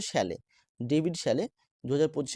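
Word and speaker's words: Szalay: Option D David শ্যালে এই উচ্চারণটা শ্যালে David শ্যালে 2025 এ Booker প্রাইজের জন্য সম্মানিত হয়েছেন এটা কারেন্ট এফেয়ারসের মধ্যে আসে।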